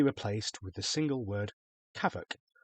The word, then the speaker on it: CAVOK: The visibility, weather, and cloud sections can all be replaced with the single word kavoc, pronounced ca.